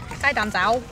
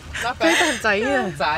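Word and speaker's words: 雞蛋仔: Gai dan zao. Gai dan zai. Oh, zai. Gai dan zao. Gai dan zao. Okay. I did it without thinking. Gai dan zai. Yeah, better.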